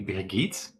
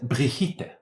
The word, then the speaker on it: Brigit: She wouldn't say particularly Brigit. she would have said briita with a more correct pronunciation.